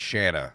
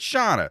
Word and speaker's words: Shanna: I worked with a girl who pronounced it Shanna. So that's why I immediately pronounced it Shanna. But it's Shanna. Shanna. Yeah. Get it right.